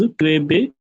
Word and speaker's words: Krabbe: It is pronounced as Krabbe disease.